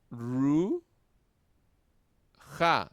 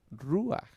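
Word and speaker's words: רוּחַ: Ru, ja, no sería ruaj. Ruaj. También está la palabra mitp, ¿verdad? Entonces, ruja, sino ru aj. ¿Por qué? Porque estamos aplicando el parche furtivo, ¿verdad? El pataj furtivo.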